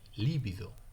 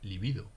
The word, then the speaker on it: libido: que no lleva tilde Entonces yo siempre he dicho y he escuchado líbido no con el esdrújula pero al no poner la tilde pues se debería leer libido no libido bueno sea como fuere se